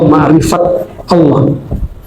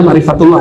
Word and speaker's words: makrifatullah: benar enggak apa-apa ya makrifat makrifatullah atau makrifat Allah bacanya makrifatullah ya bahasa Arabnya Bismillahirrahmanirrahim makrifatah